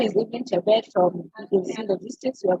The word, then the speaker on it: Chebet: Evelyn Shabet. I hope I pronounced your second name correctly. Yes, Go ahead. you got it correctly. Can you hear me? Yes, I can. Yes, my name is Evelyn Chebet from EDC Logistics.